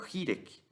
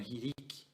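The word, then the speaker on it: חִירִיק: Lembra que eu expliquei na aula que eu mostrei na tela que essa letra é o Hirek? Alguns vão pronunciar como Hirik, né? Mas é independente.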